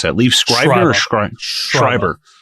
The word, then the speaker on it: Schreiber: yes cotton weary um yeah how do you pronounce that leave scriber schreiber schreiber okay i love him dude he's so good